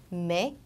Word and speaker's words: mais: 그래서 지금 여기 나와 있는 애들은 발음이 에로 나는 규칙이 있어요. 그래서 mais, scène, saison, naître 이렇게 에 발음으로 항상 해주시면 되고 그 다음은 오 발음입니다.